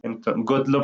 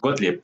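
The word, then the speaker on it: Gottlieb: Godlop, no, Godleb. Godlip, sí, Johan Godlip Ficte, eh, filósofo prusiano, pues, del siglo XIX, finales del siglo XIX.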